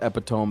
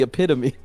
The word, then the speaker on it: epitome: would read it as epiome as well, and then I realized like, oh, wait, this is supposed to be epitome. Like, I didn't realize they were the same word, and I was just pronouncing it wrong.